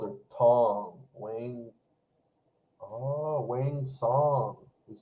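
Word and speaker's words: Wang Cong: Oh, wang song is how you actually pronounce it.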